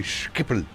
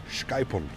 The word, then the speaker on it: Schiphol: You can never pronounce, you have to say Schiphol. Schiphol.